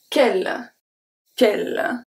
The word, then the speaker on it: quel: Quel, quel. So, the U is not pronounced, so the E is going to be pronounced as a E because it's before two consonants, which are the double L.